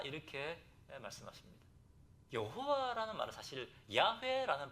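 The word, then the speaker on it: 야훼: 여호와라는 말은 사실 야회라는 발음이 더 정확한 발음입니다.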